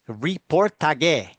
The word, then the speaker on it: Reportage: It is Reportage. Okay, so everyone's got that. This is It's spelt Reportage.